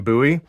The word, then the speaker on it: Bowie: people pronounce this style of knife as a Bowie knife um and then there are some who pronounce it as a buoy knife you know being uh originally from Texas